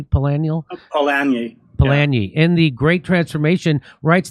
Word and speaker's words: Polanyi: You say Karl Polanyi am I pronouncing that correctly? Polanyi? Polanyi, in The Great Transformation, writes that once a